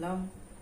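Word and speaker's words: लं: तो पहले चक्रा का उच्चारण है लम, दूसरे का है वम और तीसरे का है रम।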